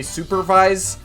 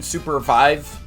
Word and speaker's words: Supervive: So every time you hear me say Supervive, I actually mean Supervive.